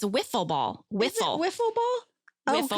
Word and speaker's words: Wiffle ball: ball oh my god i've been calling it waffle ball for a long time ooh and maybe that's why people don't know what i'm talking about i said woof it's not whiffle ball it's spelled with an eye w-i how often are you